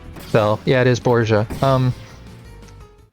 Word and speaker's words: Borgia: That's why I stumbled over the pronunciation. So, yeah, it is Borgia.